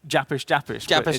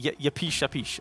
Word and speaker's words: Yapish: I kept saying Japish. It's definitely Yapish.